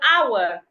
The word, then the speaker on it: hour: husband Hospital remember there sometimes you have letter H in the word but the H is silent as an hour honest honor School football failure love